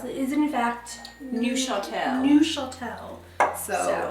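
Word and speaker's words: Neufchâtel: it is in fact newel new Shel so pretend to be French and get your little Accent on and throw that into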